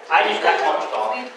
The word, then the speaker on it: Einigkeit: Einigkeit.